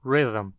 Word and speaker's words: rhythm: Sim, de fato, mas preste atenção na pronúncia da palavra rhythm. Rhythm. Them. O som de está funcionando como se fosse uma vogal, como o núcleo de uma sílaba.